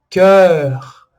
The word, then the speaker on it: cœur: Esses todos vão ter o mesmo som, que é praticamente o mesmo som da letra E em francês.